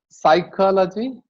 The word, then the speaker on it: psychology: The rule is P is silent if it comes at the beginning of a word followed by S.